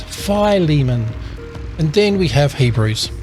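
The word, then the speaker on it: Philemon: Titus ah here we go I used to pronounce this filimon but it's pronounced fimon and then we have Hebrews now we come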